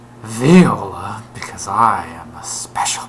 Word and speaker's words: Viola: but I decided that rather than being pronounced Viola as it's surely supposed to be pronounced I will pronounce it theola because I am a